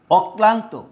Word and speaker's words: অক্লান্ত: অক্লান্ত, অক, যেহেতু কয়ের দুইবার উচ্চারণ, যেহেতু কয়ের সাথে লটা বসছে, তাইলে কয়ের কি হবে, দুইটা উচ্চারণ হবে, কয়ের দুইবার উচ্চারণ হবে। তাইলে অক ক্লা, ক্লান্ত, অক্লান্ত।